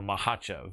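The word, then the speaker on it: Makhachev: that if that happens islam makachev or mahachev as uh as his teammate daniel cormier pronounced it what about the people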